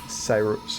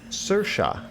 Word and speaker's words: Saoirse: is her son chad is the hubby and Cyrus oh yeah gross how do you say that is my five-year-old daughter Sayers I'm destroying that Wolverine I apologize Saoirse okay wow I was nowhere close to that